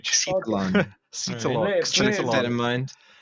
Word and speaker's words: Xitalon: I've been calling the developer Exitalon for ages, and they emailed me and said you're saying it wrong. It's Xetalon.